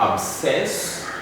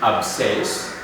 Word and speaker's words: abscess: Then we have abscess, abscess.